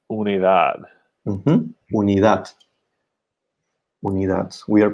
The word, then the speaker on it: unidad: We say unidad.